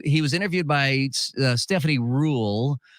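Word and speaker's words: Ruhle: was interviewed by Stephanie rule I thought it was ruly but I heard her say her name it was Rule and uh it it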